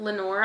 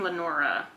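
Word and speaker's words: Lenore: go see my baby how did you pronounce her name uh his girlfriend Lenor do Lenor I was picturing Lenora where was the a I put it there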